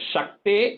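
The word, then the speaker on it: शक्तेः: And the Shakte and Shuka, that is Sha, not Sa.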